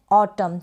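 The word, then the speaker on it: autumn: Next one है ऑटम, क्या है ऑटम, लास्ट में MN है, MN है यानी N को जो है आप साइलेंट भी कह सकते हैं और MN का प्रोनाउंसिएशन म भी कह सकते हैं, दोनों ही करेक्ट है।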